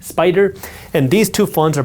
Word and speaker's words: SPDR: SPY is created by SPDR, pronounced Spider.